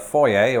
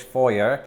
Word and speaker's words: foyer: I'm standing right here in the foyer, or as it's pronounced in American English, foyer.